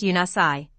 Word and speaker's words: Unisai: Guardian angelic nations often refer to this central source of creation as the Unisai, pronounced Unasai, which means central point of all union and eternal consciousness of the One All.